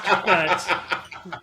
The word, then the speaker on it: FEATT: It's FEATT. Pronounced FET.